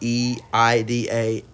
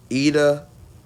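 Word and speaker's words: Iida: And so so Izuku is Lida called or Ida calls him out. I I'm pronouncing IDA, not EIDA, Ida, but my accent or something, I don't know.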